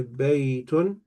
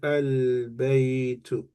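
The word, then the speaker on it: بيتٌ: Otherwise, you only have two choices to how to say this word. You would either say baytun or you would say al baytu. There is no third option.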